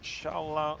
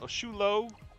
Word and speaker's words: Xolo: Sholo. Shulo. Xolo. Apparently, that's how you pronounce it according to Google.